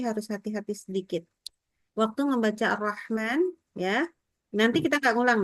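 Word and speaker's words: الرحمن: Bismillahirrahman rahman sampai dari hnya dari roh sampai ke ma disebut membaca ma maka ha itu tetap kedengaran suaranya keluar udaranya ya jadi bismillahirah enggak boleh bismillahirrahman putus suaranya udaranya ya lain kali buat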